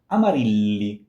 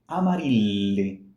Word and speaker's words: Amarilli: So, Amarilli, Amarilli. When you see two L's in Italian, one next to each other, sorry, one next to two L's in a row, I'm sorry, it's a long sound.